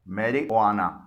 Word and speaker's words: marijuana: اور وہ ہے MARIJUANA۔ اسے بولا جاتا ہے میری وانا۔ یہاں پر جے سے کوئی ساؤنڈ نہیں نکل رہی ہے، یعنی جے سائلنٹ ہے۔ یہ ہسپانوی زبان سے